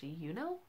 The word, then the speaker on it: Junot: And then I'm also reading The Brief Wondrous Life of Oscar Wao by, I'm gonna say his name is pronounced Junot, J-U-N-O-T Diaz.